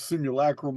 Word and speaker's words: simulacrum: Simulacrum don't even sound right to me, but that is the proper pronunciation.